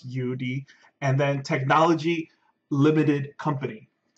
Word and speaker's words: YouDe: to be this company UD technology it is pronounced Udi okay it's not y it's not like whatever